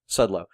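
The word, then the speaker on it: Szczudlo: Birthright was defined by the artwork of Tony Sudlow, and I think I'm pronouncing that right. Sudlow. Yep. It's spelled Sczudlo.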